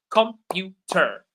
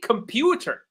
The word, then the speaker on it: computer: Let's take computer. Which syllable is stronger than the others? Computer. You notice that pew is very strong. Computer, right? Computer.